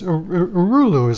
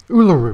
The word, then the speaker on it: Uluru: And I'm showing, this is Urulu. Am I pronouncing that right? This is the, this is actually a, that big rock, Urulu, am I pronouncing that right? Uluru, excuse me.